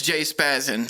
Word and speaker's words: J-Spazzin: Like it's catchy though to be like, 2 syllables, J-Spazzin.